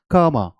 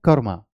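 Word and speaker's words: karma: मैं बता देता हूं ब्रिटिश जनरली आप देखेंगे वाउल साउंड के पहले या वाउल के पहले आर को प्रोनाउंस नहीं करते हैं तो वो क्या बोलते हैं कमा कमा और इसे अमेरिकन कैसे करेंगे कर्मा जैसे हम करते हैं कर्मा ओके सो कर्मा और कर्मा दोनों एक्सेप्टेबल है और यह वाइड एक्सेप्टेबल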